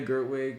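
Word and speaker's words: Gerwig: actually go see it and um is Greta gertwick or pronouncing is that correct yes yeah and so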